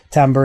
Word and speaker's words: timbre: themselves it's called timbre it's spelled kind of like timber but it's timber and what makes the